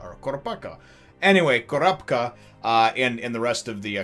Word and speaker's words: Kurapika: They say Kurapika. They don't even like put that there's like an I somewhere in there. So, and I try to say Kurapika or Kurapaka. Anyway, Kurapika and the rest of